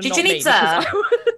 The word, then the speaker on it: Chichen Itza: Ah, I'm glad you pronounced it. Chichen Itza.